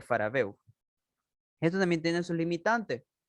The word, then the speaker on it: Farabeuf: Entre ellos uno de los primeros que era el triángulo de Faraveo, que se escribe obviamente Farabeuf. Perdón, triángulo de Farabeuf.